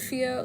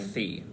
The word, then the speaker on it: Fio: I really love Fio. Like, it's Fio with an F, right? Mm-hmm. That's so interesting. Not Fee.